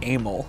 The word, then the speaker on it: Emile: well first of all my actually pronounced a Mille a mil like it sounds like anal that's like that's bread